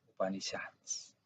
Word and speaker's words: Upanishads: En Upanishads, se pronuncia así, Upanishads.